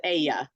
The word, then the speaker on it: ella: that would be that's the she pronoun in Spanish is Aya so that Double L is pronounced as an as a why that makes total sense